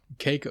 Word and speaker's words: Caicos: It says, should Canada accept the Turks and Caicos as Caicos. Yeah, I guess that would be the better way to pronounce that word.